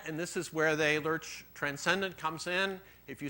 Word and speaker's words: Lerch: And finally, Lerch wrote, so Lerch is Bohemian, and I understand his name is pronounced, Bruce Barrett will pronounce it for me. Lerch.